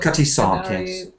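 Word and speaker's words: Cutty Sark: the Cy shark sharks it's not a shark it's a sark it's something to do with it's a tea Clipper in Greenwich C cuty Sark Canary Warf do you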